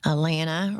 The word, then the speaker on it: Alana: Alana rhymes with banana.